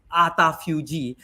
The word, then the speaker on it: autophagy: known as autophagy, and you pronounce it autophagy, right? So I say autophagy, but it's autophagy. Is probably the best way to pronounce it, and it comes from this Greek prefix auto, which is self, and phagy, which is feed on.